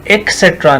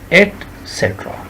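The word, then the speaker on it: etcetera: तो आपने एक्सेट्रा नहीं, एक्सेट्रा नहीं, बल्कि क्या कहेंगे, एटसेट्रा, एटसेट्रा, एक्सेट्रा नहीं, एटसेट्रा, ठीक है जी।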